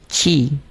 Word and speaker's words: ki: Sometimes it is called ki, sometimes it is called chi. It's the same thing, different pronunciation.